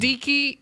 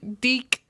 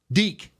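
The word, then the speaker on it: deke: why are you using Dicky deck deck it's spell d e k e deck deck that's a move that's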